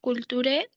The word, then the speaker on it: culture: Bueno, la culturé de la terre, no pronuncio la e final.